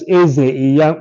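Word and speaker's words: Ize-Iyamu: That's Eze Iyamu, Eze Iyamu. It's spelled IZE hyphen IYAMU against Alonge, ALONGE.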